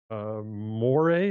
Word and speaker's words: Moray: Moray, as in perhaps the beginning of moray eel.